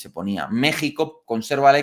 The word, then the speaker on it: México: paréntesis Ya sabéis que en castellano antiguo la x se pronunciaba J no entonces Jimena un nombre de mujer pues se ponía con una x no Jerez con una x se ponía México conserva la x porque